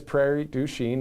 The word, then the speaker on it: Prairie du Chien: It looks like a number of other ways you could pronounce the last part of that, but double checked yesterday. It is Prairie du Chien.